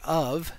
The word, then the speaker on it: of: about the english word of is it's spelled o f but the f isn't pronounced like an f it's pronounced like a v we could pronounce it